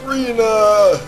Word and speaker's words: Rena: in the game for during the battle it's calls Arena 2o whenever Claude dies he goes Arena so I know that's the right name or the right pronunciation rather unfortunately the